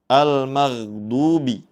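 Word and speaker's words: الْمَغْضُوبِ: Kemudian perlu kita perhatikan berikutnya yaitu pada kata almagdubi. Almagdubi huruf gin sukun membacanya dengan dialirkan. Jangan sampai dibaca memantul ghairil magdubi. Nah, itu tidak tepat ya. Namun yang betul yaitu dengan cara dialirkan huruf gin bertanda sukunnya.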